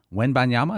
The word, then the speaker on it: Wembanyama: I have to do when banyama when banyama does that sound right yeah w-e-m-b-a-n-y-a-m-a the French wamba